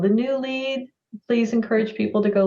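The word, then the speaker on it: lede: I have a news Outlet called the new lead please encourage people to go look at the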